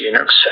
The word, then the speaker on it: Linux: Hello, this is Linus Torvalds and I pronounce Linux as Linux.